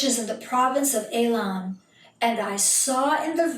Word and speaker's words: Elam: I'm pronouncing it the Hebrew way, and we'll get to that in just a moment.